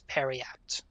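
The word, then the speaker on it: periapt: And you pronounce it as perat.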